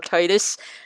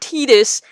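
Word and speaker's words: Tidus: different ways t-this or Titus his name is actually pronounced Titus that's how it's pronounced because of tidal wave that's what he's that is what he's named after it's not tedious it's Titus and those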